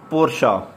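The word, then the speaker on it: Porsche: आगे जी ये कंपनी का नेम आ गया है फिर दोबारा से, ठीक है, पोर्शा, इसको हम सही इसकी प्रोनाउंसिएशन होगी पोर्शा।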